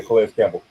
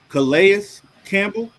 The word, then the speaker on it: Calais Campbell: Yeah, Calais Campbell. Calais Campbell.